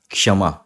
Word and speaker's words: क्षमा: आपको बता द कि बहुत लोग इसको क्षमा बोलते हैं लेकिन यह जो अक्षर है यह संयुक्त व्यंजन है और यह क और ष से जुड़ के बना होता है तो इसका सही उच्चारण है क्षमा क्षमा थोड़ा सा क और क्ष क्षमा इस तरीके से उसका उच्चारण होता है ठीक है इस शब्द